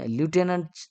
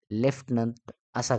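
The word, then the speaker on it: lieutenant: yeti N ए एनटी बघा आपण लुटेनंट नाव आपण लक्षात ठेवायचं पाठ करण्यासाठी पण उच्चार करताना त्याचा लेफ्टनंट असा करायचा आहे लेफ्टनंट चला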